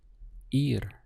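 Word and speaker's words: ir: very simple in Spanish it's simply ear ear literally sounds like the English word for an ear right but obviously the spelling is very different so ear means to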